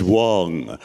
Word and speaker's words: Wang: to hear George say it's Wong rhymes with schlong okay hello